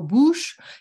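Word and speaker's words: bûche: a bush and yeah you have to go boosh you have to really pronounce it in a way pushing your lips up so they took a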